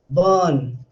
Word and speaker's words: burn: One important thing that is associated with this, that the middle r is dropped. So how will you pronounce this word? Burn. So when I say burn, you can't hear r sound.